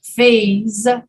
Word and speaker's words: faze: look at this f-a-z-e and f-a-c-e one is pronounced phase and one is pronounced face without the voice